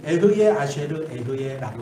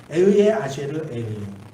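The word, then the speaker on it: אהיה אשר אהיה: 이 히브리 말로 에흐예 아쉐르 에흐예라고 이렇게 발음해요. 에흐예 아쉐르 에흐예.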